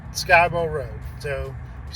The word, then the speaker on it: Skibo: a lot people say Skibo it's pronounced skybo I know the way it's spelled SK i b o it looks like Skibo but it's pronounced sky and like the blue